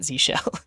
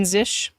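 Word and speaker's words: zsh: use zish now and it's pronounced zish not Zell but if you check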